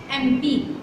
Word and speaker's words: MP: Wrong, because we are going to pronunciate M, not mom, not monitor, not member. We are going to pronunciate M, MP. So here we will use his father is an MP.